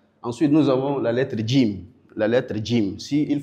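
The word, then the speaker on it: جيم: En français on dit J mais plutôt on ditim. Jim.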